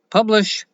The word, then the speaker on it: Publish0x: crypto social platform publish it is pronounced publish but it is spelled publish zero X and you can find